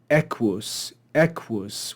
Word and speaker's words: equus: only have two syllables so the first syllable of a two-syllable word is always accented and they they give us this example of Equus Equus which is not a